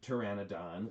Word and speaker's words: Pteranodon: super super fan of the pteranodon as it is as it's presented here um yo yes with a silent p um and i just